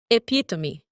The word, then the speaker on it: epitome: This word is pronounced as epitome.